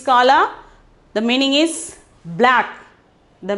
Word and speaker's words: काला: Okay, kala, pronunciation is kala.